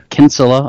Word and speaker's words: Kinsella: Kinsella is Irish, by the way, so it's K-I-N-S-E-L-L-A. Pronounced Kinsella over there.